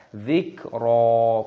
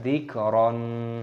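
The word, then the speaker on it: ذكرا: Dzikra, ro-nya berharokat fathah tanwin, ada tanda alifnya mad tabi'i, maka ketika berhenti tanda waqaf maka dibaca mad iwad, kita baca dzikra, bukan dzikron.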